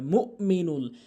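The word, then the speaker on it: المؤمن: হামজার উচ্চারণ করেই না এখানে হামজার উচ্চারণ করতে হবে মুমিনুল এখানে অধিকাংশলোক ভুল করে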